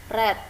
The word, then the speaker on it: read: Ya, tulisannya sama, cuma cara bacanya yang berbeda. Kalau verb 1 dibaca read, verb 2 dan verb 3 dibaca read.